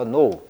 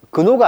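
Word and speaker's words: gnaw: No. 지가 묵음이야. 그래서 근호가 아니고 no 하면은 갉아먹다 이런 뜻입니다.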